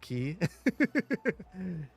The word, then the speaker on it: Quay: videos taught you that Quay was pronounced key you know who taught me that qu is pronounced key you guys I am